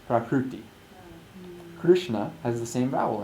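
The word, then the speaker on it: prakṛti: swoboda's book Park PT it's pronounced the same ideally it's pronounced prakruti krishna has the same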